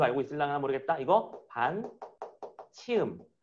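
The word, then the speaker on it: ㅿ: 이거 반 치음. 참고로 요 녀석의 발음은 아마 z 발음. 그러니까 여러분들 영어 발음에 zoo 발음할 때그 녀석이라고 생각하면 돼. z 할 때.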